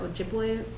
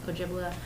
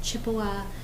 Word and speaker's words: Ojibwe: But and the green, the reservations that are imaged in green are Ojibwe reservations. Ojibwe. Some people say, or some historians say, that Chippewa is really just a mispronunciation of the word Ojibwe.